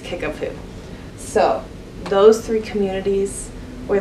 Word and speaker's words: Kickapoo: one's a fun one you should look up the spelling for it because it's not what you would expect but it's pronounced kickapoo so those three communities